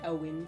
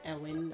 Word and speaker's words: Owen: Owen. I pronounce it Ewin on my first run.